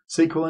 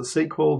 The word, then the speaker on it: SQL: like PowerShell or Bash, SQL injection, NoSQL. So I pronounce it SQL, but you might also hear SQL. You know, just different ways of pronouncing it.